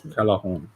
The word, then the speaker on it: Callejón: Callejón. Thank you. The J is pronounced as the H.